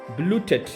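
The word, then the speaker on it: blutet: ठीक है, इसको पहले पढ़ेंगे ब्लू टेट, ई जो है वो ए में पढ़ते हैं, इसको प्रोनाउंस ब्लू टेट। ठीक है, ब्लू टेट नहीं कहना क्योंकि ई जो है वो ए में प्रोनाउंस होता है।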